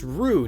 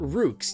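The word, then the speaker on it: Roux: do one look yeah rue that's pronounced rue not rooks you don't say the x it's it's rue and it's another intermediate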